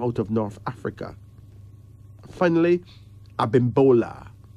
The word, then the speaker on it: Abimbola: Finally, Abimbola. Abimbola. A-B-I-M-B-O-L-A.